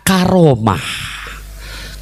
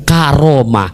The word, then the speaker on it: Karomah: kedua dulu alam makna Karomah Karomah ya bacanya disambung Karomah jangan pakai koma jadi ka romah jangan Takutnya entar ada